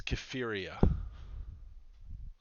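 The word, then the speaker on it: Kypheria: uh well hold on gotta make sure I pronounce my name right my name is kefiria k-y-p-h-e-r-i-a and my knowledge of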